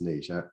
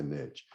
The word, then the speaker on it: niche: So my niche, and I know it's supposed to be pronounced niche. I'm in Tennessee. We're going to say niche.